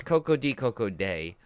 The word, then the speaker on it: Koko-Di Koko-Da: and goes, life goes on, da, but it's Koko-Di Koko-Da is the way you're supposed to pronounce it, so that ruins about 35 jokes